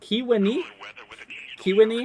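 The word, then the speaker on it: Kewanee: SEO YT says uh listen to key when Kiwani is that right SEO thank you for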